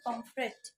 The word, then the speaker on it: পমফ্রেট: সেটাই প্রবলেম হয়ে যায় ম্যাক্সিমাম মানুষ কে কাউকে বলতে শুনবে না পমফ্রেট মাছ দাও ম্যাক্সিমাম বলে কি মাছ এনেছো পমপ্লেট মাছ পমপ্লেট মাছ তারা হলো পমপ্লেট মাছ একচুয়ালি উচ্চারণটা হচ্ছে পমফ্রেট তো খেয়ে নি হ্যাঁ